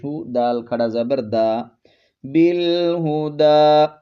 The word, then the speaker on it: بالہدی: دال کھڑا زبر دا، بالہدی، اس یا کا ہم نے تلفظ نہیں کرنا، بالہدی، یہ علامت نظر